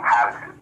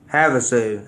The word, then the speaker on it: Havasu: movie is Highway to Havasu, man. Highway to Havasu. So, you can find it on Instagram, on Twitter, on Facebook. Highway to H A SU. Havsu. Havasu. I got it now. Havasu.